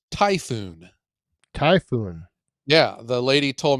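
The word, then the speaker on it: Tajfun: it's pronounced it does then you pronounce it just like the storm yes tyoon not Taj fun or tfon or it is a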